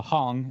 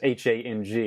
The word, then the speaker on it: Hang: So it looks like when you read it, it's H-A-N-G. It looks like hang. And I always thought it was hang too, but then I heard a lot of people say like hung drum, and now I get it. It's just the German pronunciation that I probably misheard and they just heard it as hung.